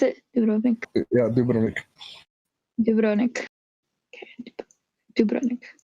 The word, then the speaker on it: Dubrovnik: No, it's Dubrovnik. Oh, is that how you pronounce it? Dubrovnik.